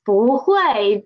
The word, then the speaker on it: 不会: It is 不会 because of the tone sandy of 不. Tone sandy of 不. When 不 is before a fourth tone syllable, it will change to second tone.